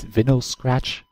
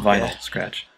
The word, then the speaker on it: Vinyl Scratch: interesting from Midwest Brony just recently is his veny scratch Vector did I pronounce that right vinyl Vinyl Scratch viny vinyl okay Vinyl Scratch vctor and here